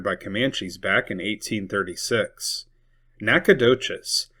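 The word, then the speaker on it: Nacogdoches: Nakadocious. Basically, the G is silence.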